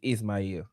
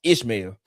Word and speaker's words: Ismael: My real my the real pronouncing of my name is Ismael. But people can't pronounce that. So they Ishmael, man.